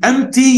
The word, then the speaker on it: empty: ما بنطقش البي. Empty يعني فارغ فاضي.